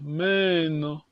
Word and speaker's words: meno: You have the long vowel here. Meno. Meno.